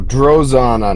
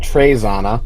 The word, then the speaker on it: Drozana: Oh, Drozana, not Trezana.